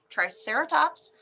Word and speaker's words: Triceratops: And pronounced Triceratops, their name comes from a combination of the Greek syllables tri, meaning 3, keras, which means horn, and ops, which means face.